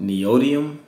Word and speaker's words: neodymium: I think the magnets, I think it's called neodymium, I believe that's how it's pronounced.